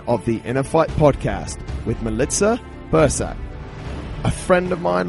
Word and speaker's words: Milica: This is episode 213 of the InnerFight podcast with Milica Bursac, a friend of mine, long-term Inner Talks number 3 or number 4 speaker. I have to pronounce her name properly. Milica, welcome to the show.